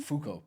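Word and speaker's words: Foucault: Fuko pendulum. Fuko pendulum.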